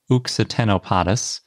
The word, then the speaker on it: Occitanopodus: The new ichno genus is named Uxitenopodus, although it's spelled like Occitanopodus, but I'm using the French pronunciation because it's named after the Uxitanie region in France where it was found.